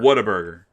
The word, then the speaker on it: Whataburger: It is, you're right. It's Whataburger. Right. It's like what an amazing burger.